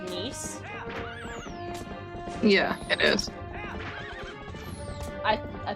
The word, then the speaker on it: Nice: my ass and also nice is pronounced niece yeah it is i